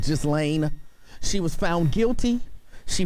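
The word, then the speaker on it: Ghislaine: discuss is and i i believe you're pronouncing her name just lane maxwell i believe was pronounced just lane she was found guilty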